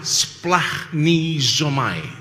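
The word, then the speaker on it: σπλαγχνίζομαι: Ini Romo sudah pernah bahas 11 kasihan dalam bahasa Yunaninya dibaca splahni zomai. Sing diingat kok somai. Anda benar-benar kuliner sejati ya toh. Orang kuliner itu yang dibacanya somai.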